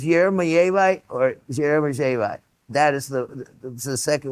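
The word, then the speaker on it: Jeremejevite: And, uh, the key is not to say the hard J. So it's Jermaite or Jermaite.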